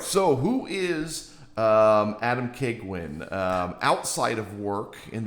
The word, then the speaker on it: Keigwin: We've got um Adam Keguin. Did I pronounce that correctly?